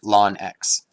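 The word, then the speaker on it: ln: and this is the function lon x or the natural log of x uh pronounced lawn x its key points that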